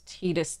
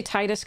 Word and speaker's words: Tidus: I used to say Titus because that's technically what I think an Americanized pronunciation would be, but I do believe the Japanese pronunciation is Tidus, and correct me if I'm wrong.